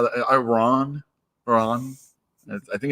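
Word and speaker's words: Rahne: Ron. I think it's Rain. I think it's Rain. Yeah. I agree. It's Rain. I think Marvel Age. I saw it pronounced that way in Marvel Age.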